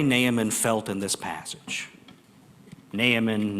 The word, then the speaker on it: Naaman: Naaman, not Aman.